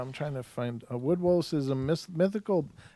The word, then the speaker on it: woodwose: up okay yeah I'm trying to find a woodwose is amiss mythical it's wo OD w OSE